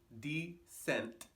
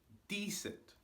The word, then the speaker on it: decent: The word we have here for number 3 is decent, with the stress on D.